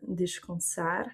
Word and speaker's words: descansar: On va avoir par exemple aussi, pour l'exemple du AN, descansar, donc on va prononcer quand et pas can, c'est pas descansar. On referme pas la langue devant pour faire le N.